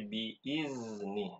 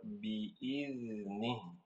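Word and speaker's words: بِإِذْنِ: Nah, di huruf zalnya, ya, Ibu tadi bacanya biizni dengan huruf zai. Ini keliru. Yang benar biizni, ya.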